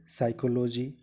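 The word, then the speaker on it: psychology: है पीएम है जैसे साइकोलोजी निमोनिया काम कि इन तीनों शब्दों में पीस साइलेंट है को एक त साइकोलोजी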